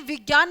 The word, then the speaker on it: विज्ञान: संस्कृत में विज्ञान नहीं कहा जाता था, विज्ञान। संस्कृत में इसका उच्चारण विज्ञान था, क्योंकि गे तो इसकी फॉर्मेशन में ही नहीं है। लेकिन धीरे धीरे जैसे समय बदला ना, ये हिंदी में विज्ञान हो गया। ज्ञानी को ज्ञानी बोलने लग गए लोग, है ना। यानी कि जो प्रोनाउंसिएशन है ना, वो क्या हो गया? गलत हो गया।